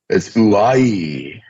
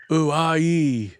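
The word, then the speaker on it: οὐαί: I want to say hoorah, but it's, yeah, it's something like that. Yeah, it's uai. Uai.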